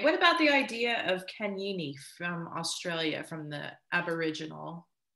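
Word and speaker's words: Kanyini: And he taught me of a concept, a word he called Kenyini, and you spell that K-A-N-Y-I-N-I.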